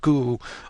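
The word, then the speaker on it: 글: pronounced as hang, and this one is pronounced as gu.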